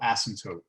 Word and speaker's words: asymptote: to say it horizontal asymptote asym the p asylum asymptote it's a weird word horizontal asymptote and the